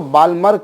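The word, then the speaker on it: Balmer: अब बामर में बच्चों एल जो है वो साइलेंट रखा जाता है, हालांकि कुछ लोग उसको बालमर कहते हैं, अपना अपना प्रोनाउंसिएशन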